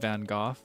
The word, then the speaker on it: Gogh: Some people say Gooff, like Vincent Van Go. Apparently, the correct is actually closer to like Goke.